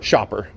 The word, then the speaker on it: Schaefer: Shopper, like going shopping. That's how you pronounce Shopper.